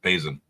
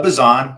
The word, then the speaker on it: Bason: of Modesto Mr bason is that how I pronounce your last name bro uh bazon but you're good bazon sounds next year when I get cold called that's how they pronounce it so you're fine um yeah